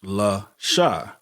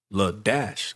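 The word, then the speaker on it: La-a: It was LA-SHA. And so people would say La Shah, thinking it's La Shah, but she would get upset because it was actually La Dash or La Daisha.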